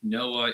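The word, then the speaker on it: NOAA: Just for everybody, Noah is National Oceanic and Atmospheric Administration. Yes. Not Noah from the Bible. Yes. Because he's dead at this point. I'm just saying it's pronounced the same way.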